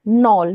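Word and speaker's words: knoll: Next है नॉल। नॉल के एन O double L नॉल। यहां पे के साइलेंट रहेगा।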